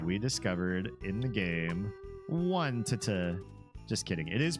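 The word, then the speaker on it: Onett: One to just kidding. It is pronounced Onet.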